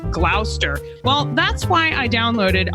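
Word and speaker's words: Gloucester: Like originally I said glalcaster instead of glower.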